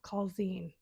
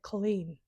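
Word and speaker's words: Culzean: The pronunciation, please forgive me, it's spelled C U L Z, but it's not Coine, okay? It's like Colleen, but my Scottish accent needs some work.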